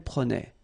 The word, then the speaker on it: prenait: Je prenais, tu prenais, il prenait, final T not pronounced, so the same form.